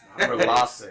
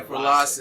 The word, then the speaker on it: Frilace: Frilace. Yeah, Frilace.